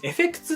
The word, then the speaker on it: FX: これね、エフェクツって読むんですけど、エフェク